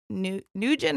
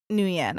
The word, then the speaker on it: Nguyen: Nugent? Nugent or Nguyen? Let me double check. In my mind, I've heard the name Nugent before, but Nguyen, I think, is how you say it.